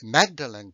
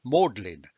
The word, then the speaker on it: Magdalen: the oxford jargon then magdalene college is not pronounced magdalene but it's pronounced modlin that is a signal